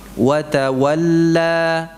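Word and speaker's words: وتولى: Di sini ada dua wawu, ada dua waw. Wa ta wa. Wa ta wa. Ya. Ya. Kok repot banget begitu? Ya memang untuk mendapatkan kesempurnaan bolehlah repot sedikit ya. Wa tawalla. Ya, jadi bukan wa tawalla, wa tawalla. Ya. Wa tawa. Wa tawa. Wa tawalla. Ya, bukan wa tawal, wal, buka wawunya dulu.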